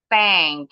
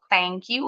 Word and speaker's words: thank: Tank. Ini paling sering. Jadi kalau pengucapan mau ngucapin terima kasih bukan thank you. Kalau thank you ujung lidahnya enggak keluar.